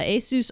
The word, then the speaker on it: Asus: Tom's Hardware Asus as I learned that it's pronounced uh Asus Rog x670ei has a chipset on a pcie